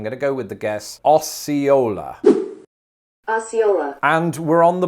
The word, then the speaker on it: Osceola: s can be deceptive osceola perhaps maybe that c is silent it's really like as in science and there is a